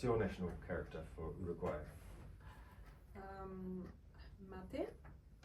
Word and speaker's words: mate: So it's pronounced mate, but Mate.